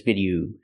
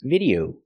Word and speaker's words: video: a lot from this video the word is not pronounced video It's pronounced video we a long o sound like go and no o together video video